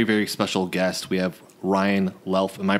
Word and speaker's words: Luelf: have a very very special guest we have Ryan laughs am i pronouncing that right well yes that is correct